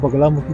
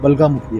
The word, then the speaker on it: बगलामुखी: जो माँ बगलामुखी का नाम है, ये आज के समय में लोग बगलामुखी कहते हैं, लेकिन अगर ग्रंथों के हिसाब से देखा जाए तो उनका नाम बगला नहीं है, बलगामुखी है।